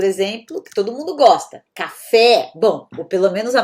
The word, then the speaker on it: café: Há outras palavras, por exemplo, que todo mundo gosta, café, bom, ou pelo menos a maioria das pessoas. Esse e, ele vai se estender, porque ele é agudo, tá?